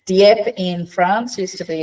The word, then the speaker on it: Dieppe: Shouldn't have pronounced the E. Dieppe in France used to